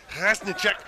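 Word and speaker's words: Rašníček: I was asking one of our camera guys about a few of the pronunciations for the Czechs, just to make sure I'm on them. And he confirmed what I thought, which was it's Rasnicek. And I was like, I'm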